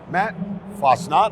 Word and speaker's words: Matt Fassnacht: Hi, I am here with CPTV, my special guest, Comcast Business VP and Channel Leader, Matt Fassnacht. I hope I pronounced your name right.